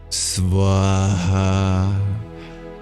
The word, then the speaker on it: Swaha: Ah, yes, that word is Swaha. Oh, it's a great word. You could spell it in the Latin alphabet as S-V-A-H-A, but almost all of those letters come with some subtext.